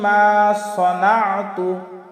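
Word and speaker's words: ما صنعت: আউযু বিকা মিন শাররি মা সনাতু। এই যে মা সনাতু, সনাতুর ক্ষেত্রেও আমরা অনেকেই ভুল করি, আমরা সানাতু বলি, আসলে এটা সিন না, এখানে আছে সদ, আর সদের উচ্চারণ আমরা সিন দিয়ে কখনো না করি।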